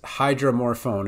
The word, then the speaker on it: hydromorphone: I wanted to practice Hydromorphone and somebody wants me to pronounce it I would say phone more phone dromorphone hydromorphone okay with morphine it would